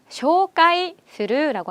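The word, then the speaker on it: 紹介する: 소개하기, 쇼카이스루라고 합니다. 한 번 더, 쇼카이스루라고 해요. 한국 발음이랑 엄청 비슷하죠?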